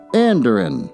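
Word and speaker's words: andiron: iron well let's look that one up uh anderin is how you pronounce it a metal support typically one of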